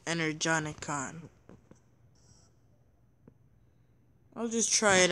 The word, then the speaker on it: Energon: just being sarcastic I can craft one more energy on ik yes a new energy on ik mad but